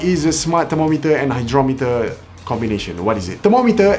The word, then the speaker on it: hygrometer: That's pronounced hydrometer. No, not hydrometer. How do you spell hygrometer? Hygrometer is spelled H-Y-G-R-O-M-E-T-E-R. Okay, so it's hygrometer. Verdict? I was wrong.